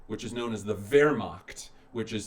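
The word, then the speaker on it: Wehrmacht: the German military which is known as the ver macht which is spelled weh R ma CH T they're mocked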